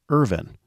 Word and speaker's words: Irvine: Always proud of their family's Scottish ancestry, she gently instructed that the family always pronounce their name Irvin, which rhymed with Mervyn. The Scottish, she said, never pronounced the E, as the English always had.